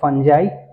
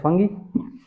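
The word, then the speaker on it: fungi: फंगी इज, कुछ लोग इसको some people pronounce it एज फंजाई, सम से इट एज फंगी।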